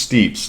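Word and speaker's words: Steppes: It's pronounced steeps. Look it up. Google it. It's I'm pretty sure it's steeps.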